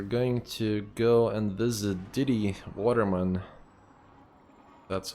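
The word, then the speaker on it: Didi Vatermann: We're going to go and visit Diddy Waterman. That's how you pronounce her name.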